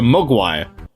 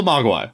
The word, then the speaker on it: mogwai: Yeah, That's how the white people pronounce it. And we're mogwai, and we're white people. We say mogwai.